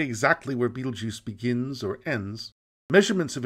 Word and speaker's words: Betelgeuse: although it is difficult to say exactly where Betelgeuse begins or ends measurements of its diameter average